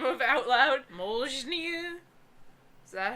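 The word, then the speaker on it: Mjölnir: The M is partially silent, the L is completely silent, and the R is pronounced by rolling the tongue.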